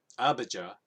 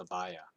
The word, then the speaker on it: Abijah: Now his mother's name was Abijah, or Abijah. Abijah? I know a lot of people pronounce it Abijah, but I think it's actually pronounced Abiah.